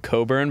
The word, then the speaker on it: Cockburn: funny in Perth there's a suburb called Coburn but it's spelt Cockburn and they have a